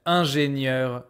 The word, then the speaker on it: ingénieur: To be fair, there is no pronunciation difference between ingénieur without a E, ingénieur with a E.